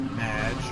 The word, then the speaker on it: Madge: have mispronounced my name it's madge which rhymes with badge uh as in and